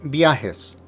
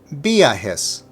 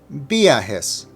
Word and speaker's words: viajes: In viajes, you see the I and the A together, so the emphasis needs to be on the A. Now, to help with the distinction, let me first mispronounce it, and then I'll give you the correct version. So hopefully you will hear the difference.